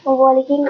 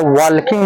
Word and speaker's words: walking: हाँ देखो, सबसे पहले वॉकिंग नहीं होता, वॉकिंग होता है। WALKING है ना, तो एल को ना यहाँ पर एल साइलेंट वर्ड होता है, तो WAKING, तो यहाँ पर WALKING को वॉकिंग पढ़ेंगे।